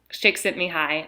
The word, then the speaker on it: Csikszentmihalyi: researcher named Csikszentmihalyi and his name starts with a C it's like CS Isay or something and but that's how you pronounce him shakes at me hi and he has this